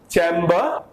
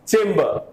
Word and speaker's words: chamber: the word is chimba this is chimba this is not chamba this is chamber so doctors were discussing